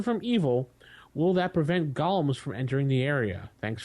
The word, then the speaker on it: Golem: from Gollum or Golems Golem not Gollum sorry gollem golum is the same thing it depends on how you pronounce but Golem go Golem potato potato I we had that long time go discussion with Jason how to pronounce that anyway it's Golem Golem it is Golem I would have to